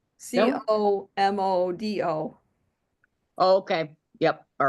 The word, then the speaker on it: Comodo: Comodo.